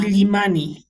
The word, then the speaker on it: Illimani: One is pronounced Illuminati, I guess, Mm. but this is pronounced Illimani? Illimani.